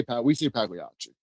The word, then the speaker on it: Pagliacci: How do you say it? Do you say Pagliacci, Pagliacci? However you guys want to say it. We say Pagliacci.